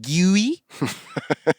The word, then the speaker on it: GUI: GUI?